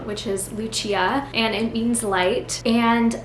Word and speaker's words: Lucia: People either think it's Lucia or Lucia. And I really like the Lucia pronunciation. It's the Italian pronunciation. And I was named Lucia after my grandmother.